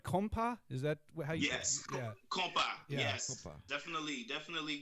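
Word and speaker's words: konpa: right i mean it was uh am i pronouncing this right compa is that yes definitely definitely good yeah um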